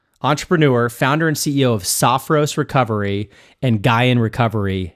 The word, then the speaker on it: Sophros: Uh, Saffros, Sophos, Sophos, Sophos, I just said it right twice.